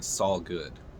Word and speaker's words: solguud: this channel I mean Sal good that's how I pronounce this s o l guu d Sal good it's going to be